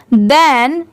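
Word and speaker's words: than: तो देखिए टी एच ई एन इसे भी देन ही पढ़ा जाता है। और टी एच ए एन इसे भी देन ही पढ़ा जाता है। ठीक है? दोनों की साउंड सेम है बट दोनों की स्पेलिंग डिफरेंट होती है।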